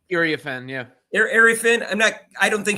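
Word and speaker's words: Iriafen: Is that how you pronounce her name? Ariafin, yeah.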